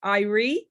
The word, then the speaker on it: Irie: But I think you pronounce this Irie, as in it Irie.